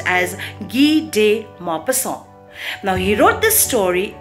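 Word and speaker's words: Guy de Maupassant: author is a french and his name is pronounced as gi de mapassang now he wrote this story in the year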